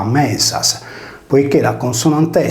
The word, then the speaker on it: Medias: La voce Medias si leggeva Mesas, poiché la consonante S